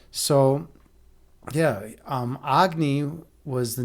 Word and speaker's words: Agni: the whole philosophy behind Agni, or what he's actually pronounced Agni in Hindi.